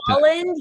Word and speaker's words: Bolland: Yes, Brian Ballard. I think is how you say his name. I may have that wrong. I apologize if I'm misspeaking. But Bolland, yeah, Brian Bolland.